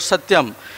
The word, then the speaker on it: Satyam: called Satyam Satyam world Satyam which has three syllables three syllables in that sir t-yong